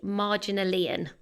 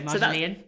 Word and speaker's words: Marginalian: And Brain Pickings is now actually called Marginalian. And I think I'm pronouncing that right, as in marginal and then IAN at the end. I would go Marginalian.